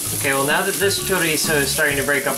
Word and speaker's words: chorizo: the chorizo fun fact zaya pronounces the word chorizo caruso you know what that